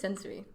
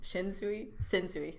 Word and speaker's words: Sensui: So we have Toguro, and then we have I thought it was Sensui. Yeah. I think you're saying it wrong. I am. Sensui.